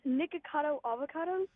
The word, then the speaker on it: Nicocado Avocado: First of all, it's Nicocado Avocado. All right. That's how I pronounce it.